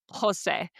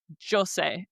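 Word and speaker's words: José: And then we want you to practice pronouncing that word out loud like Jose. We want you to not say Jose.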